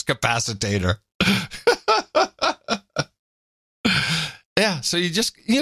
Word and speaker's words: capacitor: it's a flux capacitor which she then pronounces capacitator which was even better H we got that wrong flux capacitor yeah so you just